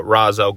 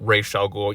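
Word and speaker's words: Ra's al Ghul: gray areas to uh Raaz elul or R elul you know I've always kind of pronounced it both ways um but if you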